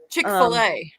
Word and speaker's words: Chick-fil-A: Chick-fil-A.